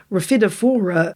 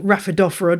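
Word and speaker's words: Rhaphidophora: actually part of the refidophora genus or raphaedophora depending on which is your preference of pronunciation like the monstro genus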